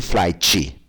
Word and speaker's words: flight: I would like to make a flight reservation. Reserva de voo, flight reservation. Não existe flight. Flight, não existe. É mudo mesmo.